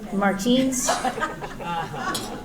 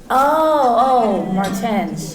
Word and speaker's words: Martens: David, does he pronounce it Martins? Martens.